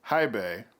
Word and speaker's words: HiBy: released about a week ago is the new Hibay, had to look it up to pronounce it correctly, RS82, and it's also an R2R DAP, uh, much like my 10th anniversary Silver.